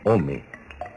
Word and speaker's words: ome: El numeral del año es 2, que se pronuncia Ome.